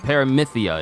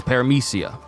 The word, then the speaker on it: paramecia: I ain't calling it paramythia. It's paramecia. And Logia is Logia.